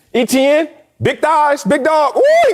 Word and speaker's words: Etienne: championship why not jacksonville how do you say his name travis etienne yeah etn big thighs big dog